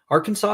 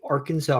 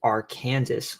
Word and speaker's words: Arkansas: Arkansas is pronounced differently with a silent s at the end because it has been galicized turned French.